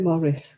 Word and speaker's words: Maurice: irish day was it oh we said morris yeah and yeah americans say maurice darwin yeah it's like